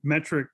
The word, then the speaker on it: METRC: And Metric in this particular instance is spelled METRC.